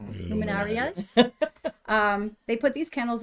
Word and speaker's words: luminarias: say it for me one more time luminary luminarias luminarias um they put these candles along you know